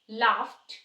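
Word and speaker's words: laughed: stay tap लाफ्ट cooked अब आप सोच रहे होगे ये लाफ्ट और कुक्ड में लास्ट में डी आ रहा है तो कुकड लाफ ड होना चाहिए था ऐसा नहीं है रीजन क्या है यहां पे लाफ फ जो है यहां पे वॉइसलेस साउंड है तो जहां पे वॉइसलेस साउंड लास्ट में आती है तो वो साउंड ड की बजाय ट हो जाती है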